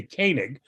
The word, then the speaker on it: Koenig: Dutch country we'd say Koenig, but apparently that's not right. But beyond that, I have no idea. He pronounces it Koenig. You know that, right? It's not Koenig, it's Koenig.